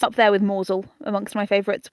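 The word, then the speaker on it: Mousehole: it's up there with moel amongst my favorites which is spelled mouse hole Yeah toaster and bister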